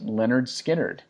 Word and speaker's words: Lynyrd Skynyrd: from the 1973 album pronounced Leonard Skynyrd a Kelly why did